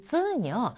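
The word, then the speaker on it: つ: 그런데 이 캣츠라고 할 때 쯔 부분, 이 뒤에 오는 쯔 부분 또는 이츠라고 할 때 뒷부분, 이것과 발음이 비슷합니다. 그러니까 츠라고 발음을 하시면 되겠습니다.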